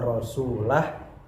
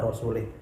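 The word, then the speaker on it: رَسُولُهُ: minal musyrikina wa rasulah, tapi dengan membacanya kasrah. Yang benar adalah annallaha bari'un minal musyrikina wa rasulah. Akan tetapi si orang tadi jika membacanya annallaha bari'un minal musyrikina wa rasulih.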